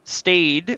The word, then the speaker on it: staid: The stayed, which is the pronouns are Z, Zer, and how do you pronounce is that STAID or what? Stayed, yeah, STAID.